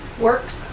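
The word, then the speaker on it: WORX: That old track saw was the Works, how we pronounce it? Works with an X.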